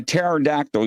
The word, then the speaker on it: pterodactyl: so yes yes uh why can't you hear a a pterodactyl using the bathroom cuz the p is silent nice ladies and gentlemen